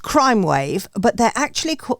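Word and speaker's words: Crymwav: this is um this is right there it's pronounced crime wave but they're actually it's spelled Crim wav c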